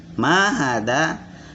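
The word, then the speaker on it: ما هذا: Mahada. Kenapa mahada panjang ma-nya? Karena ada alif. Ya. Dan ini berharokat. Ini ma. Ya, ini hada. Ya. Ma karena nih panjang maka dibacanya mahada gitu.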